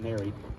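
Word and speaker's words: Néry: And at Ney, just a few months later, or sometimes pronounced Neri, if you spell it phonetically the way the English would, Ney in French.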